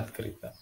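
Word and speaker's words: открыто: Tulisannya atkrito dibacanya atkrita.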